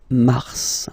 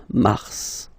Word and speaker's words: mars: so any a way it's an exception because normally final s is not pronounced in French okay we've got some